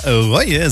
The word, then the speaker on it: Roie: Aber eigentlich wird es Reue ausgesprochen.